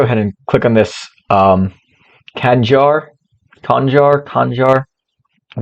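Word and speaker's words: Khanjar: How to pronounce it? Kanjar.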